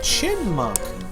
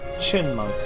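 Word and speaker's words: Chyinmunk: How do you pronounce chai monk? I say chin monk, but the y is silent. Okay. Chinmunk.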